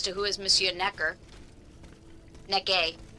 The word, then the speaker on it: Necker: Necke, I guess, would be his... Necke. Don't pronounce the final R's in French.